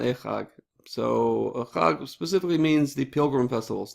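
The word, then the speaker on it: חג: But Chag is the Hebrew pronunciation in Hebrew.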